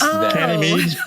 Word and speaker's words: Ganymede: Ganymede? Yeah. It's an indie film you did. Yes. Ganymede. It's Ganymede. Ganymede. Ganymede. Yes, it's a Ganymede.